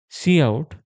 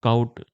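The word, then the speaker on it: cout: See out. See out is pronounced as see out not count or see out.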